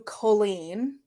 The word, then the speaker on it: Colleen: Colleen brings her up on stage or sorry Colleen her her name is pronounced Colleen which for whatever reason